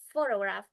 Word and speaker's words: photograph: For instance, in the word photograph, the stress is on the first syllable, but in photographic, the stress shifts, and the first vowel reduced to a schwa sound.